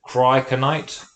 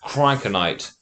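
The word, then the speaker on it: cryoconite: even though I'm going to get you to spell it to the students Oh, watching, okay. which is it Cryokinite?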